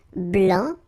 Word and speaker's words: blanc: here okay so here masculine BL don't pronounce the final C and then Blan okay